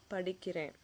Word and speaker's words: படிக்கிறேன்: You can say நான் படிக்கிறேன். நான் படிக்கிறேன். Not படிக்கிற.